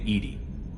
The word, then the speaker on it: EDI: airlock is a jar why are you named Edy Ed is the phonetic pronunciation of Ed di that is an acronym